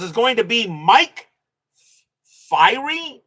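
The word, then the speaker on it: Fyhrie: going to be Mike Fiery. I don't know how that's pronounced. Let me find that out real quick. Fier Fiery. I'll find out in a second. Let's see. and Fury. Okay, Mike Fury.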